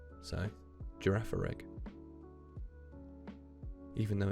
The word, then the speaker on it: Girafarig: I pronounce it Girafarig, which is funny because obviously like the G at the start is J, and then the G at the end is G. So Girafarig.